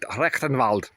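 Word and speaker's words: Rectenwald: I would have spelled that with a K and pronounced it rectenvald but that's me.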